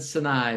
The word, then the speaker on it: Sinai: mom, like Aileen and Sinai. Am I pronouncing their names correctly? Yeah, Aileen and Sinai, but yes, they were, I couldn't have made it without the two of them.